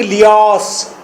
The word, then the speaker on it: Laius: First character king लियास, king लियास। लियास के spelling हैं LAIUS, लियास।